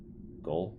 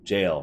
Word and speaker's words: gaol: Goal? Jail. Right, that's pronounced jail.